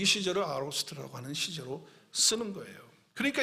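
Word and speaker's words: aorist: 그걸 아로스트 이렇게 발음하는데 그 문법이에요.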